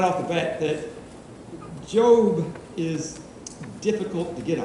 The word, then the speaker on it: Job: in job Old Testament job pronounced job not job it looks like job and uh it's just